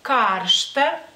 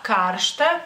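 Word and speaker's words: karšta: poquito la la pronunciación porque el acento en este caso cae sobre la a ksta Pero cares y si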